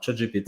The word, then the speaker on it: ChatGPT: Alors ChatGPT, alors je prononce à la française, qui a littéralement sans